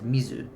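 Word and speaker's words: みず: Mizu for water and then mizuyobi for Wednesday or suyobi for Wednesday. Example one, mizu water. Uh the kanji water appears on its own and is read as mizu in English.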